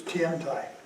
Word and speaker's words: Tiantai: It almost is the same in Chinese, it's Tiantai. Tendai, Tiantai. Almost the same pronunciation.